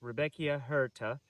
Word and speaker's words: Rudbeckia hirta: Okay, here we are with Rudbeckia hirta. I pronounced it wrong whenever I introduced this video,